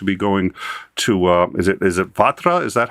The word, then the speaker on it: Vatra: All super chats are going to be going to is it Vatra? Is that how it's pronounced? Starsky? Vatra. Yes. Vatra.